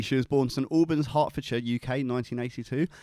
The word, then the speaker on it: Hertfordshire: was born some alban's hartfordshire UK 1982 if you're American you pronounce it Hertfordshire but you're wrong yeah or you'd pronounce